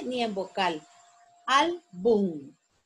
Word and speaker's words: álbum: Álbum. Álbum. La sílaba tónica es al.